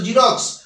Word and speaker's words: Xerox: এক্স বর্ণটাকে এক্স বর্ণ দিয়ে শুরু হলেও তার উচ্চারণ হয় জেড এর মত নিশ্চয়ই বুঝতে পারলে তাইতো এখানে এক্স বর্ণটা দিয়ে জেরক্স বর্ণটা শুরু জেরক্স যে ওয়ার্ডটা এই ওয়ার্ডটা কিন্তু